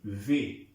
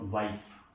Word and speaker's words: vais: सो इसको हम प्रोनाउंस करेंगे वे, इट्स नॉट वाइस, पता नहीं।